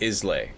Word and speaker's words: Islay: Islay is pronounced Islay.